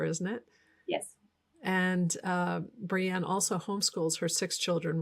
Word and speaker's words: Brianne: today I'll be interviewing Banna burnson am I pronouncing your last name correctly Brianna you are it's Brienne it's a BRI yeah Brienne I don't think I've